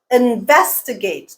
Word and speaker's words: investigate: not on the fourth here's another example removable removable again stresses on the second syllable not the first not the fourth guiding principle number six